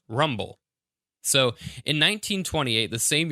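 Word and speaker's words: RMBL: Mountain biological rat laboratory RM BL pronounced rumble so in 1928 the same year they made the film about Garwood Judd gothic was purchased by dr.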